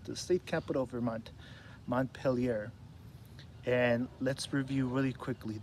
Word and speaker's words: Montpelier: Montpelier. It's kind of a tricky word. I think I said Mount Bueller. but it's still spelled the same.